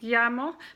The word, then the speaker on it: llamo: and the Double L the Double L sounds like a why sound so it's like yeah mo me llamo so you would have